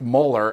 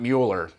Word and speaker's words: Mueller: Muller note there that that is pronounced molar and not Mueller but when something's call